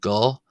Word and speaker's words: go: Remember short o not long not go but go slano slango slango slango slango slango slango.